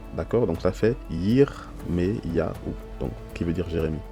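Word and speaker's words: ירמיהו: ne se prononce pas et le deuxième se prononce ça fait le son e d'accord donc ça fait yirm ya ou donc qui veut dire Jérémie donc ce qu'il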